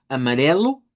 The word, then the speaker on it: amarelo: que tenemos acá, eh, todo lo que se escribe con o al final en una palabra o en una sílaba en portugués se pronuncia con u. Entonces, eso es un patrón que hay que recordar. Por eso hemos visto branco, que suena cu, amarelo, que suene lu, eh, ya de allí